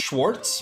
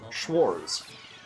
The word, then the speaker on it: Schwarz: And I keep saying GHS Schwartz, but it's not Schwartz, it's Schwarz. There's no T at the end.